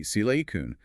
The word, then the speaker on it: silicon: It should be silkun with a stress on the first syllable